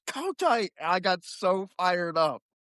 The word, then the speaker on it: Kotite: And she's like, "Who is Rich Katy?" And I'm just like, "KAI? IT'S co tight.